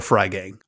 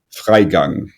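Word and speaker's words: Freigang: up quite a bit I go with Laura fry gang I know that's not right but can you set us straight here you pronounce it laa Fang okay Clara bu CLA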